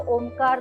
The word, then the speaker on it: Om: with religion and even chanting om you know that we break the syllables into a u and M and it has been